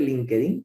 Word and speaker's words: LinkedIn: Me gusta decir LinkedIn con acento en la I. Porque si no, dicho así con acento más anglosajón suena un poquito ridículo, ¿verdad?